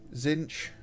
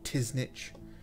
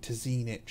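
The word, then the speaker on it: Tzeentch: Give us like Tilia and stuff, and yeah, Zinch, or Tiznich. What was the other pronunciation I heard of this one? I think it was like Tizinich or something. That was just made my skin crawl.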